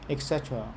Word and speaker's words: etc.: Etc. The emphasis is at the second.